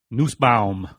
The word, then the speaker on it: Nussbaum: Nussbaum. That's right. That is right. If you don't want me to say it like that. Nussbaum. Yeah, that's the German pronunciation.